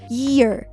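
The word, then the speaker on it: year: 귀 이어와 이어의 차이는 Y 사운드에서 나는데요. Y 사운드는 이렇게 약간의 Z 사운드를 내는 것처럼 발음을 하시면 됩니다. 그래서 ear 이렇게 발음을 하시면 됩니다.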